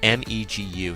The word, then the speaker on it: Megu: Apparently Ginpachi names the furry little monster, or this little furry eyeball, Megu, and it's spelled M-E-G-U, so it's Megu is this little furry monster.